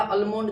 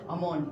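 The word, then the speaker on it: almond: भैया अल्मोंड दीजिएगा। बताइए अल्मोंड का ही प्रोनाउंसिएशन होता है। क्या हो जाएगा? अमोंड।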